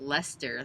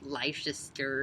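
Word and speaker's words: Leicester: looked in there and it says you pronounce it Lester like the guy's name like bfl like the last it I always like called it like life sister or something weird like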